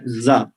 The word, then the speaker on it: زا: جب ہم پڑھاتے ہیں تو کہتے ہیں رازا, اس کا نام اوریجنل یہی ہے زا. زے ہم اردو میں کہتے ہیں لیکن عربی میں زا بولا جاتا ہے.